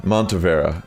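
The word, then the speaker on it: Montenevera: Yeah, Montevera.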